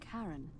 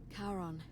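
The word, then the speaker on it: Charon: is a little off the name you heard wasn't karen it was c-h-a-r-o-n as in the ferryman of the dead karon who in exchange for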